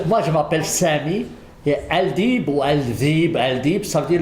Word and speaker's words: Aldeeb: Comment se prononce votre nom? Alors, moi, je m'appelle Sami, et Aldib ou Aldib, ça veut dire les loups.